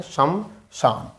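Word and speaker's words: श्मशान: हैं शमशान लिखते हैं मेरा शब्द का उच्चारण देखो सम शन सम शन क्या बोलते हैं सम शन ठीक है तो हमारा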